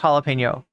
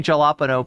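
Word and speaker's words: jalapeño: or to know that that J is pronounced different in Spanish the N makes the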